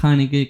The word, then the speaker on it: Haneke: Como cada artista, Michael Haneke, que es así como se pronuncia, van a ver que